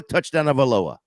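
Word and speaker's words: Tagovailoa: Jamie, it's Tua touchdown of Aloha. That's all you do. TD Aloha.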